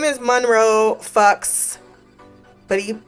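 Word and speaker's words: Fuches: sure on that but his name is Monroe Fox but he pronounces it folks I say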